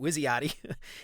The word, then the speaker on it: WYSIATI: I have no idea if this is how you say it, but I'm going to say it Wizziati.